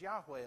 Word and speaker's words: Yahweh: In Hebrew, you might hear it pronounced as Yahweh a lot.